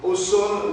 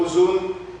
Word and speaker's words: Ausone: Ausone ou Ozone, parce que ça s'écrit A-U-S-O-N-E.